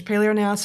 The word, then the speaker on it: paleognaths: There's paleognaths and there's neonaths with a silent G in the middle of both.